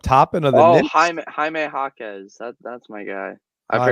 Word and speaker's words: Jaime Jaquez: Jaime Jaquez. That's my guy. I Jaime forgot that he was going in the dunk Jaquez, that's how you contest. say his name? Yeah. Jaime Jaquez.